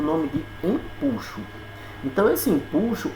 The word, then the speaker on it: empuxo: é a questão do empuxo certo muita gente fala empuxo mas não é empuxo a palavra a pronúncia correta é em puxo certo quando se mergulha